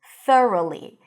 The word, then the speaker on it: thoroughly: So here the tricky part is the TH and the R. So stick the tongue out for the TH, th, and then r, round your lips for the R, and then li. Don't get confused by all the extra letters there, all the G's and the H's. Just ignore them.